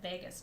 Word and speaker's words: vagus: digestive system it's called the vagus nerve it sounds like las vegas but it's not spelled the same way and the vagus nerve